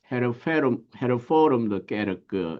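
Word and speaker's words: Hervormde Kerk: 1834년 국교회로부터 분리하여 이 네덜란드 헤르포름드 게르크 이렇게 이제 발음을 하게 되는데 이제 뭐 국교회란 표현보다는 네덜란드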